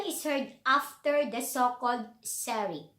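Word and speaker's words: Sehri: So the Adhan is heard after the so-called Sari. Sari, I think this is how the Arab people pronounce it, Sari.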